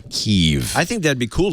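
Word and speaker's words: Kyiv: Here is the metro in Kiev. It's amaz I'm sorry, Kev.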